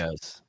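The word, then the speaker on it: Kyrgios: Cur Kurios, how you pronounce Curios.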